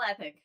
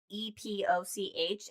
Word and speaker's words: epoch: Which when I initially was reading epic is spelled EPOCH, and in my brain I always pronounced it as epoch until I heard somebody say it, and I was like, oh.